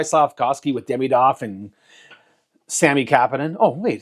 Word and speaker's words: Kapanen: It's Oliver Kapanen. Or some podcast, Kipanen. His name is fucking Kapanen, okay? It's Sammy Kapanen. It's his cousin or something like that. Or nephew, I don't know. Kapanen. Just say it right.